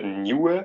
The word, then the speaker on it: nieuw: The IEU is pronounced nieuw. So kind of the U doesn't really per se make a sound per se.